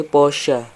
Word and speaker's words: Porsche: sama yang Porsche B saya baru tahu ternyata dibacanya bukan Porsche tapi porsa Lalu apakah itu artinya